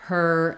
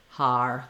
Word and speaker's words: her: patterns where I'll hear someone trying to say the word her and it'll sound more like har they'll be too open they may Glide a little bit and we don't want that we want to just have that tight ER sound for that I would